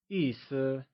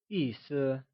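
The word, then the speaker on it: 意思: pronounced using a falling tone and Sur is pronounced using a neutral soft fading tone the word meaning translates to Issa can you try and say Issa once again it is said as Issa good job boo how Issa is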